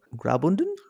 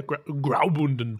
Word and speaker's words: Graubünden: Well, it's made from granite from the Swiss region of Graubünden. I mean, I've gotten in trouble for my pronunciation in the past, but yeah, Graubünden.